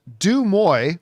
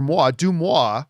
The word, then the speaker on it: Deuxmoi: Uh Deuxmoi or Moi Deuxmoi, I think it's pronounced, posted, "Jacob Elordi as Bond has been a long-standing rumor.